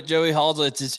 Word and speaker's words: Halsell: Well, here's the thing, Joey Halsell. He's been with Josh. How you say it? What I call him? You said Hazel, but it's Halsell. Yeah, say Hazel Halsell. I don't care.